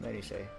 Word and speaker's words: minutiae: It's minutiae, right?